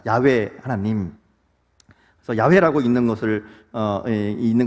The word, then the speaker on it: 야훼: 사실은 이름이잖아요 이게 이름이니까 가장 원래 이름에 가까운이 발음이 야외입니다 야외 하나님 야훼라고 있는 것을